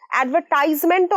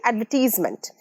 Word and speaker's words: advertisement: অ্যাডভার্টাইজমেন্টও অনেকে বলে, কিন্তু সঠিক প্রোনাউন্সিয়েশন অ্যাডভার্টাইজমেন্ট।